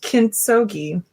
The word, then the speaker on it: kintsugi: I believe it is pronounced kintsugi, hard G.